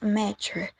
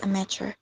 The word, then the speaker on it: amateur: In the video, the word amateur is pronounced amateur. The word is a noun that has stress at the beginning, so the correct pronunciation is amateur.